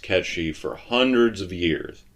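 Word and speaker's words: Cait Sith: didn't get to that um it's always been pronounced catchy for hundreds of years right like this is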